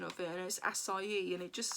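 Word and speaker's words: açaí: I sorry because I always thought it was a chi berry and it's not I looked up the pronunciation of various acai and it just sounds so weird yeah so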